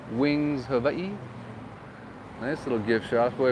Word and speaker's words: Hawaii: is in hawaii now notice the w i pronounce with a v hawaii that's how you're supposed to say it guys see i'm not